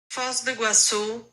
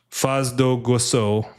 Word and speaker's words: Foz do Iguaçu: Faz do Igucia? Let me see here. Faz do pronunciation, because I am absolutely not cultured.